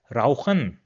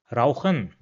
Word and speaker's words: rauchen: Now if this comes after the characters A, O, U, or A, U, then it will be pronounced as H in English.